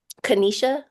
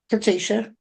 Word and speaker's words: Katesha: Kanisha, I'm sorry, is that how you pronounce it? Katesha.